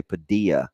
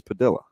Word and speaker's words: Padilla: else Padilla at least he corrected us in a hurry right he didn't let people say Padilla yeah for a couple years it's like hey man it's Padilla yeah no he corrected